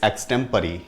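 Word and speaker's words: extempore: The right pronunciation of this word is एक्सटेम्परी।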